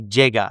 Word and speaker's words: llegar: I like to say llegar, and so I like to pronounce the double L's and the Y's like j.